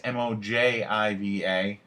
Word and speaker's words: Mojiva: Another one is Mojiva, I believe is how you pronounce it. It's Mojiva.